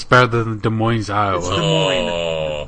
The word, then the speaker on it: Des Moines: until it's about the Des Moines Iowa the S is silent Des Moines Moines Iowa